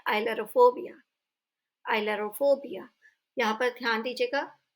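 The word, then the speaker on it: ailurophobia: Next फोबिया है fear of cats, बिल्लियों से डर, और इसे हम प्रोनाउंस करते हैं आइलरोफोबिया।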